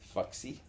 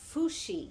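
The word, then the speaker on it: Fuxi: And then there's um Foxy. No. Fushi. Fushi. I pronounced it the way it's spelled.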